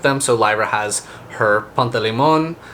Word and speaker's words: Pantalaimon: So Lyra has her Pantalimon, I think his name is Pantalaimon is how they pronounce it in audiobook.